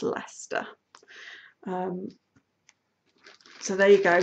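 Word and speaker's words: Leicester: is spelled weird and I can tell you the correct pronunciation because I live there it's Lester um so there you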